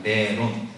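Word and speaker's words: Neron: 이 네로라고 하는 라틴어가 네론이라는 겁니다. 네론. 제가 스펠링을 불러드리면 N-E-R-O-N 네론. 영어로 얘기하면 이 네론이 네로의 라틴어식 표현이에요.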